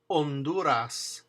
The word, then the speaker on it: Honduras: In that case, you don't pronounce the H ever. First word alone. Alone. Elo. Elo. Honduras.